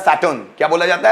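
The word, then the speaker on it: Saturn: में बोला जाता है सैटर्न क्या बोला जाता है सैटर्न यहां का जो आर है वो भी साइलेंट होता है सैटर्न क्या बोलते हैं सैटन सैटर्न means Shani next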